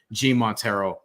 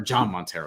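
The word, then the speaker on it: Jhon Montero: at all maybe two-way contracts and such but g montero or john montero excuse me it's pronounced john he's dominican i should know that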